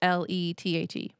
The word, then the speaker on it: Lethe: So for those of you that are just listening and haven't cracked open the book, Lethe is Lethe.